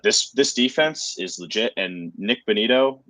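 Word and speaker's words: Nik Bonitto: But this defense is legit, and Nick Bonito, is that how you say his name? Yeah.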